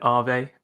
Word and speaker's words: Aave: abigail game jam um i should actually pronounce it ave because it's finnish for the word ghost but yeah thank you